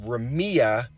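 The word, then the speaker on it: רמיה: so the Hebrew word for slack which is pronounced Remia stands for negligence carelessness laziness and then the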